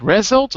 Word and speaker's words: result: a result is it result or is it result result second syllable right as a result